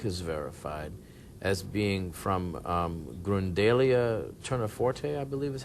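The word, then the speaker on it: Grundelia tournefortii: Now there was I was reading that there's a pollen on the shroud that Uri Baruch has verified as being from Grundalia terniforte, I believe is how you say it.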